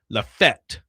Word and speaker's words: Lafayette: People from Lafayette, Tennessee, which is what I just said, pronounce it Lafette. Yeah, they just roll through it quickly.